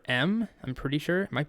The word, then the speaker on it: em: to another relative unit the M and generally this is pronounced M the name M doesn't